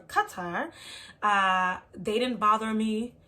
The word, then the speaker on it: Qatar: I was in Qatar cuz that's how they pronounced it I thought it was Qatar but it's Qatar uh they didn't bother me in Rwanda they